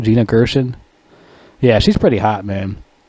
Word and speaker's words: Gina Gershon: That's how you pronounce her name. Gina Gershon.